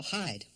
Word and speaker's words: hide: the end of it see a silent E on the end of it and that's not the word hid anymore thanks to the silent E over there that word is now hide hide yeah that silent